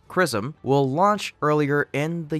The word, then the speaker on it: XRISM: station a japanese-led mission xrism pronounced chrism will launch earlier in